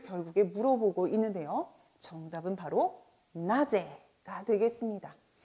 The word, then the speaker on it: なぜ: 자, 누구는 나래, 언제는 이즈, 어디는 도코, 그리고 어째서, 왜는 도시대, 나제 방금 전에 문항에서 풀어본 것이고요.